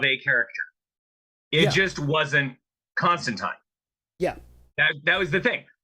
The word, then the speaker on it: Constantine: uh one panel that says constantine it rhymes with time when every media depiction